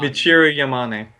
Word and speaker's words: Michiru Yamane: 9 developer team, Inti Creates, and former Castlevania composer, I'm going to butcher the shit out of it, Michiru Yamane. Michiru Yamane.